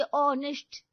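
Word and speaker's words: honest: ऑनेस्ट एच तो silent होता है ना।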